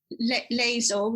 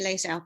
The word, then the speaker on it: Layzell: So Somersetians say Layzell, like to rhyme with hazel, but yeah. Other people tend to say Layzell.